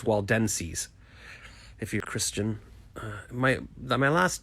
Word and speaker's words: Waldenses: And even when I looked up, I still pronounced it wrong. Waldenses. I was saying Waldenses, but it's Waldenses, if you're Christian.